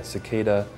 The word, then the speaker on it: cicada: things get really really intense um but yeah cicada is pronounced that way c i c a DA